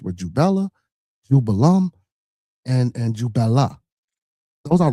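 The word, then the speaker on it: Jubela: So these 3 ruffians, you got the name wrong. It's Jubella, Jubello, and Jubalum, not Jubalan.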